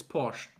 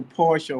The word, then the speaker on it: Porsche: Porsche but in I think in English it's Porche it's Porche so Porsche or so how do you pronounce it in German the actual in German